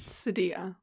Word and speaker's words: cedilla: but that's Sadilla. Sadilla. Barber. Sadilla. Sadilla. It's Sadilla. I want to say Sadilla because I learned it in French first, but the word for today is sadilla, which I want